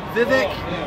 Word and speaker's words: Vivek: The Vivek rhymes with steak.